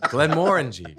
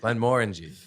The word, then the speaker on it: Glenmorangie: Glenmorangie. Glenmorangie. Is that how you pronounce it?